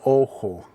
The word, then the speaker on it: ojo: So eye is el ojo. So the J has kind of an H sound.